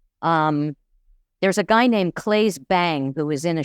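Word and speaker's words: Claes: role so creepier um there's a guy named claye bang who was in a show called bad sisters clus Claus bang well they say his name is claye that's how you pronounce it oh okay c l a es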